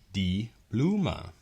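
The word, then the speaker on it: die Blume: what that is so in german this is pronounced di bluma okay it's very simple to think about a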